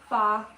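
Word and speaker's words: phở: Fa, yeah. It's PHO, it's spelled.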